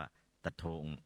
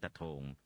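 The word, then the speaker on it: ตะโถ่ง: หรือ เมือง ตะ โถ่ง ภาษา พม่า ไทย เรียก ว่า ตะทอง ใคร เรียก ว่า สะเทิม พม่า ออก เสียง ตะ โทง นะ ฮะ ก็ เมือง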